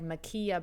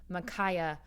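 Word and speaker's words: Ma'Khia: to apologize because yesterday i mispronounced her name i said makia bryant it is makaya bryant who was killed as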